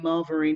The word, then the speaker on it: Marvarine: So I'm Marvarine, bit of an unusual name, Marvarine. It rhymes with margarine, the stuff you used to spread on your bread back in the day.